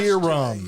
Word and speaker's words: Rohirrim: Rohirrim. Yeah, Rohirrim. It's Okay. exactly how it's spelled.